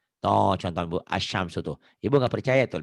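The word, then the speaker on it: الشَّمْسُ: Sementara kalau alif lam samsiah, tulisan dan bacaan berbeda. Kok berbeda? Ditulisnya ada alif lamnya. Ada alif lamnya. Ya. Dibacanya lamnya nggak ada. Tuh contoh Bu, asyamsu tuh.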